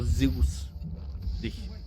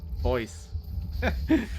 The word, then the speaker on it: Zeus: Yeah, also Zeus. Not Zeus. That's what we would call it in German. I think in Greece it's similar to Zeus, but never mind.